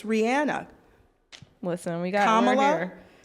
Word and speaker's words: Rihanna: or Rihanna. Yeah. It's Rihanna. It's Rihanna.